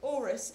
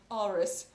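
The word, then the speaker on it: Aarhus: eric larson from the university of auris or aris if whether you want to pronounce it sort of the danish way or the english way who is currently a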